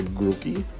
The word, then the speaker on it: Grookey: So here is the Grookey.